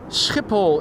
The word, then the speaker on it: Schiphol: Kristoff asks if I can pronounce the Dutch S ch is and that's that's a typical sound that you don't hear in a lot of languages. Skipple is the proper way to say it in Dutch.